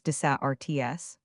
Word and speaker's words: deserts: 14 Deserts desa rts. Pronounce rhyming with hearts.